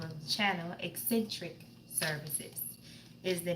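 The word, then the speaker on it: Xsintrik Services: your messages for today and we want to pronounce the name of channel eccentric services is the name of a channel that's how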